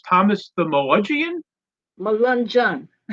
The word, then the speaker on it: Melungeon: Gigi, I would like you to tell me the title of your book because I'm sure I'm going to mispronounce Thomas the Melungeon. Melungeon. Melungeon.